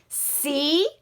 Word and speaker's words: cone: And then what do we have at the end of our word? A silent E.